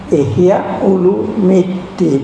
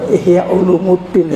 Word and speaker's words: Ihya Ulumiddin: dalam Haditsnya Imam Bukhari kitabnya Ihya ulumiddin bukan Ihya Ulumuddin ya Bacanya jangan eh iya Hollywood D